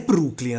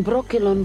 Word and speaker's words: Brokilon: Ma non è Brooklyn, ragazzi. Ma, essendo curioso, sono andato a sentirmi la versione originale e questo è l'audio. Where am I? How did I... You are in Brokilon Forest. E io dico, se in inglese pronunciano Brokilon, perché cazzo devi cambiare la pronuncia in italiano?